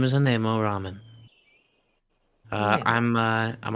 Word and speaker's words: Anemo: fellow guy and and it's pronounced animal it just uh I've just had a a rough time dealing with it being pronounced the exact same way for most of the campaign that being the wrong one but I think that